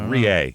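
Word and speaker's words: Reay: Riier, how do you say it? I got that too. Rea. Yes, it is. Re a y rea.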